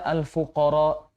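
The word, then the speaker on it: الفقراء: Dalam kata "al-fuqara," beliau hanya membacanya dengan dua harakat, padahal seharusnya dibaca dengan empat harakat.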